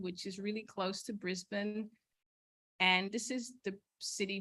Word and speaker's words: Brisbane: When I first applied, I was telling people I was going to Brisbane, but here it's pronounced Brisbane.